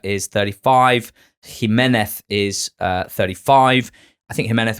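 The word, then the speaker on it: Jiménez: Kieran Trippier and Raul Jimenez. You don't say it like that. Jimmy Nesbitt have signed for Wolves. Normally, it's good. It's Raul Jimenez. Jimenez.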